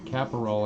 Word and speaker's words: Caporal: Anthony Rendon, Sweet Caporal, or Caporal, I think is actually how you say it.